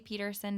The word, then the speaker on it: Pederson: my website is Peterson dot-com my name is pronounced Peterson but it's spelled like Patterson so its PE d